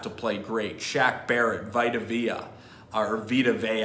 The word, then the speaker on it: Vita Vea: Shaq Barrett, Vita Vea, I should say, for a little soft pronunciation of a vowel there, for a big Samoan guy out of Hawaii, I think, who played at Washington.